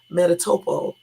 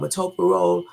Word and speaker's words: metoprolol: I stopped taking one medication, metatoprol. I know I just said it wrong, okay? Metoprolol, something like that. That's what it's called, metoprolol. Okay, so they took me off of that to give me the other medication.